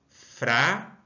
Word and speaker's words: frágil: A palavra frágil. Quantas sílabas? Uma, duas sílabas. Qual é a sílaba mais forte? É o frá. Sendo assim, não está na última, e sim está na penúltima sílaba.